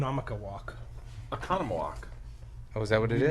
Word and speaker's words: Oconomowoc: It's just a difficult word to Oh, pronounce. Oconomowoc.